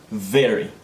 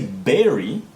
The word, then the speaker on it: very: so it is very important for you to pronounce it correctly okay very if you say berry a berry is kind of like a little